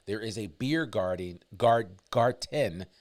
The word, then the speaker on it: Garten: There is a beer garden, Garten, that's the proper German pronunciation of it, Beer Garten, that's opening up, but just means beer garden.